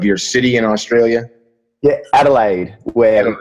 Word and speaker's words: Adelaide: And you're coming to us from, please pronounce the name of your city in Australia. Yeah, Adelaide.